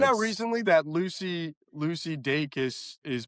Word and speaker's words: Dacus: I found out recently that Lucy Lucy Dakus is pronounced Lucy Dakus and not Lucy Dacis. I think I would have said yeah do Lucy Dus. It's Dus Dacus.